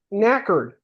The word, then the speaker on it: knackered: Sounds like smacked. Yeah. Knackered.